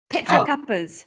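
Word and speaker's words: Petra Kuppers: Or Cuppa? It's Petra. Sure. Petra Cuppers. Petra Cuppers.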